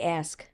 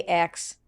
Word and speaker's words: ask: I have this problem though where how do you say ask? Ask, right? Ask. So I say um I'm trying to correct it now. Okay. I say X.